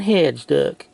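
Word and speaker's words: Hejduk: Milan Hajduk jersey card. Or as the Americans say, Milan Hajduk.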